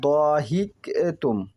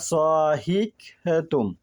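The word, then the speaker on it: ضحكتم: থেকে বর্ণিত যে লা জহিক তুম, জহিক তুম শব্দের অর্থ হচ্ছে হাসা। উচ্চারণটা হবে জহিকতুম, দহিকতুম না।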